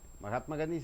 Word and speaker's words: Mahatma Gandhi: Mac cop ma ghanti which syllable you have to give stress mahatma gandhi's a noun hmm maha the first syllable should be stressed because it's a known Mac at mag